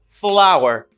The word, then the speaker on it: flour: less flour flour flour flour and this is flour flour flour the same pronunciation flower flower flower flower